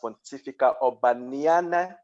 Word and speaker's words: Pontificia Urbaniana: The university that I attended is actually pronounced Pontificia Urbaniana University in Rome, Italy.